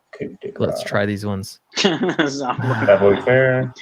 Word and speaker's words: savoir-faire: Is that how do you say it? Savoir-faire. You said it right. Savoir-faire.